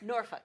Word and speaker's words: Norfolk: Norfolk. Norfolk. How you want to say it. Great seafood and everything.